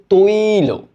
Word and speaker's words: তৈল: এটার উচ্চারণটা দাঁড়ায় এমন, দেখো, তৈল। হ্যাঁ, সরি, এক মিনিট, তৈ লো।